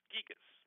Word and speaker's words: Gigas: Gigas.